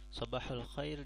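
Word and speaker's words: صباح الخير: Sabahul khair di sini ketika dalam bahasa amiyah dia mengatakannya, mereka biasakan bilangnya sabahal khair dengan fathah pada huruf ha-nya, sabahal khair. Dan di sini seolah-olah ada huruf e, pelafalannya dengan huruf e, sabahal khair.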